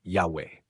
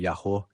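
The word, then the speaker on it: Yahweh: sobre a primeira sílaba, teria sido pronunciado pelo autor de Êxodo 3 como Yahwé. Yahwé ou Yahô, Yahu, como se pronunciava o nome do Deus de Israel?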